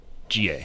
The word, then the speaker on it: Tujunga: It's pronounced Tujunga. Okay, so I said it right the first time. Tujunga.